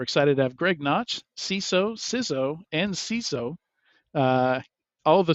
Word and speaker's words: CISO: Yeah, there's a lot of opinions about how to pronounce that. Yeah, they're all wrong. It's CISO. CISO, yes.